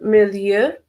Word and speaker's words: Milieu: Bill has the Milieu. Milieu is a French pronunciation.